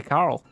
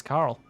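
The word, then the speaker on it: Coeurl: How do you spell it? C-O-E-U-R-L. Right, so it's yeah, it's basically Carl. You're right, it's Carl.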